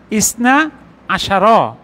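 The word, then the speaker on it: اثنا عشر: আচ্ছা এখানেও দেখেন ইসনা আশার। উদাহরণটা আরেকটা নোট। তার মানে হল ইসনাশার বাই ইসনা আশার পূর্বে যদি অন্য কোন শব্দ আসে তখন এটা মিলিয়ে পড়তে হবে।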